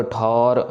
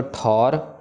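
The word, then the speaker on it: ਠੌਰ: ले हो उबारी सर्व ठौर मोह हो सहाई दुष्ट दोख ते ले हो बचाई सर्व ठौर ठठे के ऊपर यहां पे कनोड़ा है सो औ की आवाज आएगी ठोर पढ़ना है ठोर नहीं करना सर्व ठौर मोह हो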